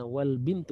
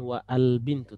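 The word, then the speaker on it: وَالْبِنْتُ: Ya, wal bintu ya. Kita akan baca. Afwan. Lagi batuk dulu. Wal bintu ya, kita bacanya wal bintu, bukan wa al bintu, tapi wal bintu.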